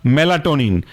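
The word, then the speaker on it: Melatonin: और फोस एफ ओ एस दूसरा है आपका मेलाटोनिन मेला एम ई एल ए और टोनिन टी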